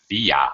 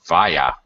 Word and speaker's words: via: to into from by via or via okay this word gets pronounced two ways and it's perfectly okay